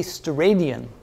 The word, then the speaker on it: steradian: What is a steradian? Is that how you pronounce it?